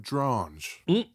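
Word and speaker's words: Dronge: Guild is founded by Alfred Drange. Rhymes with orange.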